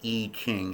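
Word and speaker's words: I Ching: is based on the 64 hexagrams of the E King if you don't know about it look it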